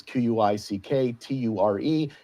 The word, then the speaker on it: Quickture: And for those looking for it online, it's Quickture. It's like picture, but pronounced with a Q.